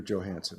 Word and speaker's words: Johansen: to uh actually you you pronounce your J and you don't pronounce it as a y don't you you're Johansen right that's the way